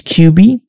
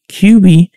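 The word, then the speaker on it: Quby: So you play as QB, which it's similar to the title, but no, her name is pronounced Q-U-B-Y.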